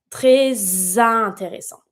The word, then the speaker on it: très intéressant: Très intéressant. And you're going to pronounce it. Vous avez très intéressant. And you're always going to link it with the Z sound because it's the S.